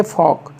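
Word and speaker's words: folk: एल एफ B half F ओ एल के फॉक फॉक जन साधारण या जन लोग तो एक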